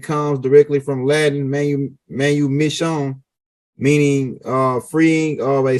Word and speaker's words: manumission: capacity and made him become uh a a Manu Mission servant put the term Manu mission in there m SE say it spell it again u m i SS i o